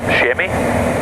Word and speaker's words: chamois: They're actually technically an antelope called a chamois or chamois. Yeah. If you want to pronounce it.